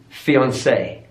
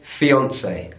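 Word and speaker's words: fiancée: the original stress pattern so it will be fiancee fiancee stress on the final syllable in British English we say fiancee fiancee so stress on the middle syllable their fiancee I've always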